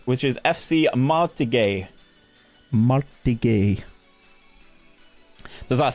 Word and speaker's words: Martigues: And then we've got another one that Andrew told me how to pronounce, which is FC Martigues. Martigues.